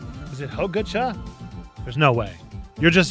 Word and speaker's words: Hojicha: Pronunciation is as Hojicha. Hojicha. Long O sound. Hojicha.